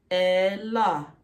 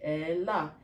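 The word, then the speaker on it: אלה: Ella. That's how you say that in Aramaic. Ella.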